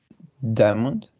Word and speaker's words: diamond: about the next one some speakers produce three syllables Others May pronounce this word with two syllables some would say what do you think Diamond okay and Diamond excellent